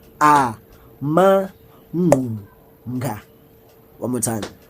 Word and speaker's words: Amangqunga: Izilonda, ezithi pronounced Amangqunga. One more time. Amangqunga.